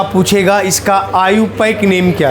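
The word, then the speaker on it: IUPAC: जैसे आगे नोमेनक्लेचर में आपको पढ़ना है आईयूपक नेम। क्या पढ़ना है? आईयूपक लिखते हैं आईयूपीएसी उच्चारण करते हैं आईयूपक नेम।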